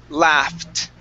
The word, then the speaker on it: laughed: The GH in this word create an F sound. All right, mm-hmm. So when a word ends with an F and you have an ED at the end, we need to pronounce a T. All right, so it's laughed.